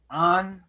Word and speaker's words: Avant: It's French and pronounced Anava.